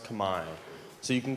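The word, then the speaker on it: Khmer: And the people there, it's written out like Camar, but it's pronounced Kamai. So, you can call them Cambodian or you can call them Kami.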